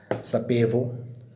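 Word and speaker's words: sapevo: इसके बाद में है सपेवो वर्ब है सपेरे अभी है पास्ट में तो मैं जानता था मुझे पता था तो इसमें हम बोलेंगे सपेवो सपेवो सपेवी सपेवा तो इस तरीके से इसको करना प्रोनाउंस मैं जानता था मुझे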